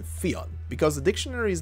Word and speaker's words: Fionn: right now, which is Fionn, just pronounced very kind of fast, I guess. However, I also found out that it's pronounced Fionn and Fun, depending on which region you pick.